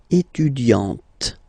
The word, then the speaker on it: étudiante: Okay, but then for the feminine form, elle est étudiante. Okay, t. Okay, you don't really insist on the e, but you insist quite much on the t.